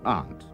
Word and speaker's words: aunt: However hard they try, they can't pronounce a simple word like aunt. Instead of aunt, they call it ant.